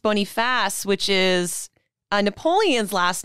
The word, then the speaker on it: Boniface: not to be that person but it's actually pronounced bony fast which is a napoleon's last name which probably